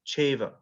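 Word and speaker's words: caiva: it goes together like if you say uh cha and eva and they're coming together it will become chava and it'll be spelt c a i v a but then you look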